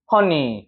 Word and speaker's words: honey: 꿀, 이거 어떻게 읽어 발음해요, 이거? honey.